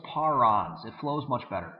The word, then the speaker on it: parans: do one more thing, because parant is difficult to say if you really slow down and pronounce it emphatically. And so what the Romans did is with this NTS combination, they would drop the T. So that gives us parans.